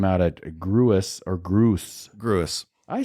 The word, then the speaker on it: Gruis: a good time out at gruis or Gru gruis I say gruis too it's Gru some people say Gru they're